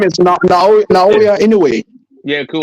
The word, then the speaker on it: Inoue: like, His name is Naoya Inoue. yeah, cool. It's Inahui. easy for you, but Yeah, shit, it's real easy for me to say Monster. Nahui Inoue, whatever.